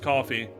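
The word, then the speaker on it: Ko-fi: I know that it's pronounced coffee, but it just I've said Kofi so much.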